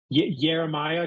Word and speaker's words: Jeremiah: Like I'm sometimes like Jeremiah, because the J actually doesn't exist in the Italian alphabet, which is something I learned a while ago.